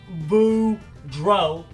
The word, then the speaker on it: Boudreaux: kids my name is Boudreaux that's pronounced boom drove and I'm here to